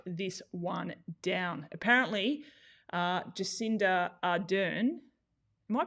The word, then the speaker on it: Jacinda Ardern: before we shut this one down apparently uh jacinda ardern am i pronouncing that right jacinda jacinda ardern is that right um new zealand new zealand's